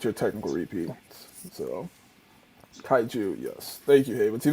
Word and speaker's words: kaiju: humans build in order to fight the kai kaijai and the sp pacific rim franchise again what